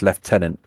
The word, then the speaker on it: lieutenant: me why it's pronounced leftenant right it's spelled Lieutenant but it's pronounced leftenant don't know why just